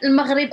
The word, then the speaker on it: Maghrib: It's like the R like the French R.